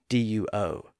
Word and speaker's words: duo: Think about the word duo. D-U-O, which is often pronounced as duo with a slight W sound in the middle.